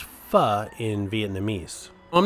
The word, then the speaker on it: pho: spicy vietnamese soup it's spelt p-h-o but it's pronounced fa in vietnamese i'm not sure if the owners